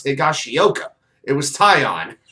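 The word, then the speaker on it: Taillon: pronounce higashioka it was tie on it's always two syllables buddy but the fact that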